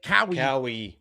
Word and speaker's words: Caio: Caio Fernandez is like Cowie.